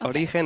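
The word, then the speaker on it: Origen: us what to say well both way are fine Oran is how you say it in Spanish so you actually say like if you were a Spanish person but origin is how you would say it if you were not a Spanish speaker but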